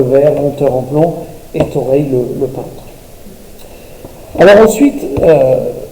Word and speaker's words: Thoreil: Et donc, Thoreil, ça s'écrit T-H-O, R-E-I-L, je le précise parce que l'orthographe va être mouvante.